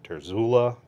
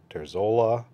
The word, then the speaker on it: Terzuola: terzola several different ways I've heard people say terzula terzola um I'm pronouncing it the way that I heard him pronounce it in a video that you can still access on the crkt website he does he's